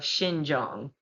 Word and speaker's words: Xinjiang: All right, y'all bear with me on the pronunciation of this stuff, okay? This is the Uyghurs of Xinjiang.